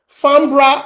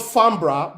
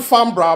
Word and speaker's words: Farnborough: where we stay in farnborough that's another problem pronunciation fambra is called fambra boys it's spelled fanboro the first time they called it Farm bro like what's that you know I think the